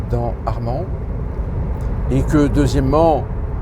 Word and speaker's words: Arman: Sauf que non, il n'y a pas de D dans Armand. Et que deuxièmement, ça ne se prononce pas Armand, mais Arman.